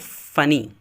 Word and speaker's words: funny: فنی نہیں بولتے ہیں، FUNNY، ویسے تو لکھا ہوا ہے ڈبل این ہے لیکن ڈبل این کا تلفظ نہیں ہوتا، صرف ایک ہی کا ہوتا ہے، تو اسے پڑھتے ہیں فنی، فنی۔ اس طرح ہری،